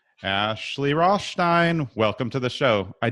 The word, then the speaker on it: Rothstein: It's just Rothstein. I mean, some people get the Stein, but they miss the sh.